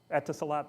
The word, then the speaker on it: Etisalat: I don't know how to pronounce it. Etisalat, thank you.